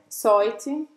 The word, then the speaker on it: soit: Soy, soie, soit. Não. Soit. Para os três. Soit. Então, tá bom. Sua, então, é o som do S e simplesmente o som do OI em francês, wa, Wa.